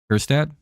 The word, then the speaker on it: Kjerstad: Kerstad just teed off on us. You know Sean's all excited right now. He's like, yay! Kerstad? Yeah, I just pretend the J isn't there.